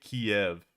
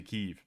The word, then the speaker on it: Kyiv: sound-ish so you say you don't say kiev you say keeve that's the name um